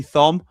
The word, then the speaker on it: Thom: Batman Lou says, great to see Thom, another good pal I haven't met yet. I pronounce it the same way Jim does. It's like Thor, but Thom.